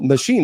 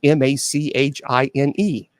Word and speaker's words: machine: MACHINE. Okay, my machine is M-A-C-H-A-I-N-E. Yeah, so it's not so M-A-C. So I said, how do you pronounce M-A-C-H-I-N-E? You said Mac-Hine. No, it's machine.